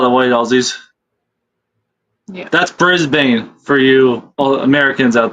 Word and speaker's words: Brisbane: That's Brisbane for you all Americans out there.